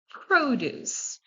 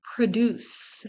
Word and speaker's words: produce: Number 4, produce. Produce. That refers to fruits and vegetables. That's different from produce, which is a verb.